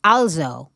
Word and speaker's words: also: give an example like the word also right also right in german it's pronounced also and it is a german word as well the point is if